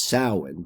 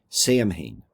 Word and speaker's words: Samhain: Like, this is Samhain, but, you know, it would look like it would be pronounced Samhain.